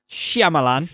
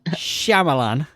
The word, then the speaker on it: Shyamalan: The pronunciation. Shyamalan.